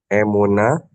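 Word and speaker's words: אמונה: emuni emunu Bu ee tanda baca yang garis lurus yang ada horizontal bacanya A sama emuna.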